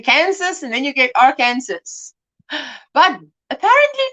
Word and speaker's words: Arkansas: arkansas i i always thought you would say our kansas like in kansas and then you get arkansas but apparently not apparently you appre you pronounce it arkansas arkansas i try my best cut yard barf